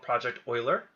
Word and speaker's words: Project Euler: It's called Project Euler. That's how you pronounce it.